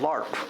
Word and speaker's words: LARP: Is it pronounced? Is it a spoken acronym? LARP.